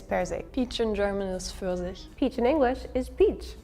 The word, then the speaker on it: Pfirsich: How do you say it? Pfirsich. Yeah, that. First. But also the way it's spelled is really insane to me.